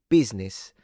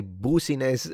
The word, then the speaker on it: business: Yeah, it has 3 syllables due to the I, some people think. Instead, it's 2 syllables.